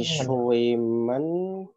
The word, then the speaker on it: schwimmen: SP, ST, SCH dibaca schwimmen.